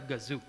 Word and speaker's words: Gazoo: tutorial this is i know this is commonly mispronounced as uh i call it toyota but i was told that it's actually toyota gazoo so if we are going to encounter that